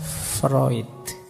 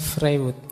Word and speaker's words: Freud: saja eh gagasan psikoanalisisnya Freud ini tulisannya frewood Biasanya kalau mahasiswa baru membacanya masih freood gak apa-apa Masih murni berarti masih asli belum terpengaruh Barat oke Nah teman-teman mungkin masih